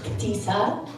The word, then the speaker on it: Ahtisa: It's actually supposed to be pronounced Akisa.